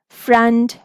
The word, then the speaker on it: front: We will learn about schwa in the upcoming videos, but here remember that in these words, O is not saying it's saying the complete U sound, short U sound.